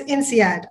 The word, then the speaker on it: INSEAD: I will not say the expanded version in French because I will surely mispronounce it. So it's called ESSEC. Similarly, there's INSEAD, I-N-S-E-A-D.